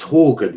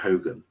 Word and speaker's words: Horgan: It's Horgan, not Hogan. I'm pronouncing his name completely wrong there.